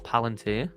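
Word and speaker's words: Palantir: I don't hold uh Palanteer. How do you say? Is it palant or palanteer? It's Palanteer.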